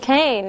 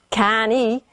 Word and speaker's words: cane: We don't pronounce the E, right? We don't say can-E, right? We say cane.